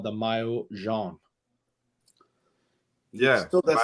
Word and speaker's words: maillot jaune: French, it's called the maillot jaune. Yeah. Still doesn't pronounce it properly. Mayonnaise. The what? That's right. I heard mayonnaise. Mayonnaise. Maillot jaune. Maillot. Yeah, not mayo.